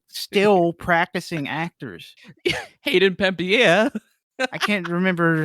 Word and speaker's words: Panettiere: Hayden Panettiere.